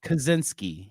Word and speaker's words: Kaczynski: of this okay Ted how do you say his last name kajitski Kaczynski yes one of those was correct but I'm not gonna tell you which one Kaczynski yeah it was that one okay Kaczynski one of